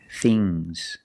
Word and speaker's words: things: Remember with ngs, it makes a soft g. Bangs. Things. Fangs. Soft g.